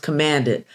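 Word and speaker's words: CMD-IT: CMD-T, pronounced commanded, stands for the Center for Minorities and People with Disabilities and Information Technology.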